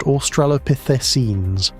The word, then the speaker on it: Australopithecines: That thing shared a flood plain with Australopithecines, pronounced Australopithecines, the small upright apes we call our ancestors, and it outweighed them by roughly six to one.